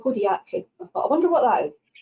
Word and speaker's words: podiatry: And she said, well, number one, you pronounce it podiatry.